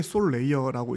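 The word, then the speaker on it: Solayer: 레이어라고 하는게 나와 있잖아요 이게 솔 레이어라고 이제 발음을 하고요 오늘 말해도 444% 이제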